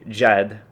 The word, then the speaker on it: JED: And it's actually JED is the correct pronunciation, and it means a very serious person, which is incredibly ironic because that's not really who I am.